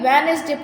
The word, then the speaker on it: Wednesday: जो Wednesday का D होता है वो साइलेंट, हम उसको रीड नहीं करते, वो बिल्कुल साइलेंट रहता है, तो हम D को हटा के Wednesday पढ़ते हैं. बट राइट हमेशा ऐसे ही होता है, लेकिन जब हम रीड करते हैं वो Wednesday रीड करते हैं.